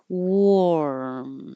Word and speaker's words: warm: As you're making the R, my tongue is curling back inside. Warm. As I'm keeping my lips rounded and make the M.